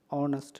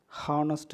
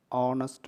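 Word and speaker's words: honest: ஆன் அவா, ஆன் ஆனஸ்ட் மேன், ஹானஸ்ட் மேன்னு சொல்ல மாட்டோம், ஆனஸ்ட் மேன்.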